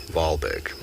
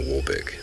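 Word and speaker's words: Wahlberg: in the n in the 1800s wall is pronounced V valberg okay I've always called them a wallberg I've just realized we've been pronouncing it wrong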